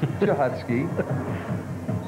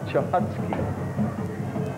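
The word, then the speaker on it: Cichocki: Damian Chahotsky. And by the way, we're not mispronouncing that young man's name. It is Chahotsky. Had we not been clued, we would be. Yes. C-H. or C-I-C-H-O-C-K-I, Chachotsky.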